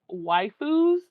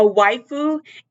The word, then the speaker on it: waifu: So it says my boyfriend has waifus and it's destroying me.